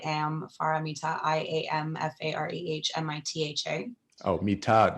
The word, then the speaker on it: Mitha: Oh, Mitha. No, it's not tha, it's ta. Mitha.